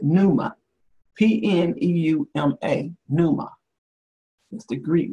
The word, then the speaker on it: pneuma: I think you pronounce it pneuma.